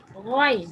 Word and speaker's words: غين: Ghain is pronounced from the top part of the throat.